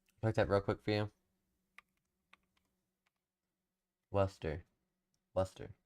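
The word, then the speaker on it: Worcester: I don't know how to pronounce the names. Havville, Massachusetts. That real quick for you. Worester.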